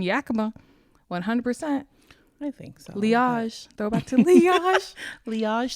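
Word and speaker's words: Liaj: L I A J J yeah it was so funny because it was meant to uh be pronounced as leage which is my first name and my last name initial but then people couldn't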